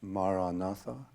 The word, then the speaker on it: maranatha: word i suggest is maranatha if you choose that word say it as four syllables listen to it as